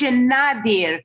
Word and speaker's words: Moshe Nadir: But by the way, his name is the author's name, you pronounce Moshe Nadir, because it's a pen name, like you say, Nadir Dus, give me Jens.